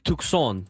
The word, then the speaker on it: Tucson: I can make fun of Tucson and it's Tukon if you want to pronounce it. The native Native American uh language that made that is what Tucson is named after.